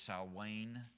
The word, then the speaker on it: Samhain: Although many affirm that, and this is the pronunciation of the Halloween, it's Samhain, was the origin of modern-day Halloween.